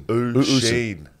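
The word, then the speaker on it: Oisín: Oosheen. Oosheen.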